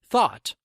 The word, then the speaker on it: thought: to help you remember thought thought sounds like thaw we thaw something that